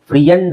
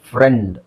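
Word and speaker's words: friend: business ಫ್ರೆಂಡ್ ಅಲ್ಲಿ ಈ ಹೇಳ್ತೀವಿ ನಾವು ಐ ಹೇಳಲ್ಲ ಫ್ರಿಯಂಡ್ ಅಂತ ಹೇಳಲ್ಲ ಫ್ರೆಂಡ್ ಕಾನಸರ್ ಇದರಲ್ಲಿ ಬಿಡಿ ಈ ಪದ ಜಾಸ್ತಿ ಯೂಸ್ ಆಗಲ್ಲ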